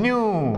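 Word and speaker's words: ν: 1 ಬೈ ಟಿ ಅನ್ನ frequency ಅಂತ ಹೇಳ್ತೀವಿ ನಾವು ನ್ಯೂ ಇದನ್ನು ನ್ಯೂ ಅಂತ ಕರೆಯೋದು ರೈಟ್ ನ್ಯೂ ಅಂತ ಅದು ಉಚ್ಚಾರ ಮಾತ್ರ ನ್ಯೂ ಸ್ಪೆಲ್ಲಿಂಗ್ ಅಲ್ಲ ಅದು ನ್ಯೂ ದಿಸ್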